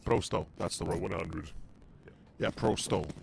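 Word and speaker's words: Pro100: that's the 100 yeah Pro sto is properly pronounced yes but to the others who don't understand Pro 100 yeah Pro 100 is the actual English translation for the people that don't know store is 100 in russan in any case it's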